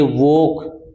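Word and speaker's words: walk: ये वोक मैंने बताया था, चोक, वोक, टोक, इनमें क्या है अभी, एल और के साथ साथ आते हैं तो एल साइलेंट रहता है, ये याद रखना।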